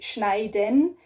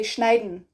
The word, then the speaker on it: schneiden: So you don't say schneiden, you say schneiden. So instead of D-E-N, den, you say D-N, den. So schneiden, or not even n, it's like in the back, the N.